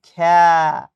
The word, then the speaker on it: খেলা: আমরা সবাই লিখি কিন্তু খেলা। কিন্তু বাস্তে উচ্চারণ করি খ্যা।